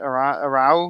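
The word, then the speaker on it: Aarau: They've also put up a lot, and so has Arahu. I guess that's how you say it. Arau.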